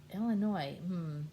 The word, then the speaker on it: Illinois: And here's Illinois. He says, "Yes, my name is Illinois, and I need one airline ticket. To Illinois. No, the S is silent.